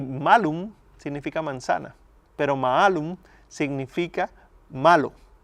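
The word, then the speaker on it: mālum: Pero quienes interpretaban por cuenta propia, en lugar de leer malum con la A larga, malum, la leyeron como si la A fuera corta en la pronunciación. Era malum. Y malum significa manzana. pero maalum significa malo.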